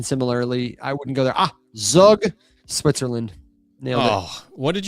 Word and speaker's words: Zug: No, it's Zug. just how it's pronounced, man.